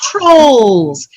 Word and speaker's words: trolls: Ankle, We talked about number 29, dolls, trolls. They both have OLLS, but they're different. The vowels are pronounced differently.